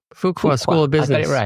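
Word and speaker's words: Fuqua: Um the se the CMO survey spring 2025 um with Deote Duke, how do you pronounce Fukqua? Duke Fukuqua. Fukuqua School of Business.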